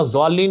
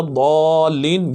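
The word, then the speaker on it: الضالين: المغضوب علیہم ولا الضالین، یاد رکھیے دعات کو زوات پڑھنا حرام ہے، ولا ضالین یہ کوئی تلفظ نہیں ہے، غیر المغضوب علیہم ولا الضالین یہ صحیح تلفظ ہے۔ اور یہ یہاں پہ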